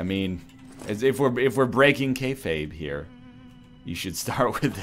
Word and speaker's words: kayfabe: Stop breaking, how do you pronounce it? Is it kayfabe?